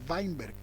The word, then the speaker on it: Weinberg: apellido finder' que s weinberg se pronuncia vainberg como el futbolista algunos lo llaman schweinstaiger